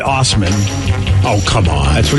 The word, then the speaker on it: Assman: So there's a guy whose real name is Dave, last name A-S-S-M-A-N. Assman. Assman! Now, he pronounces it Osman.